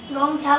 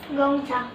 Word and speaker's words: Gonxha: Agnes गोंगछा को होती है गोंगछा।